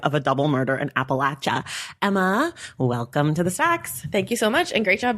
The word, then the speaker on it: Appalachia: The Long Life of a Double Murder in Appalachia. Emma, welcome to the Sachs. Thank you so much. And great job pronouncing Appalachia.